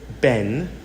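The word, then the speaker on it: בן: Now, in a Hebrew example, we have the word ben, Bet, Nun, and we know it is pronounced Ben, which means a son.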